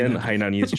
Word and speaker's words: Hainanese: Okay, well, pronounce it for me. Hainanese chicken rice.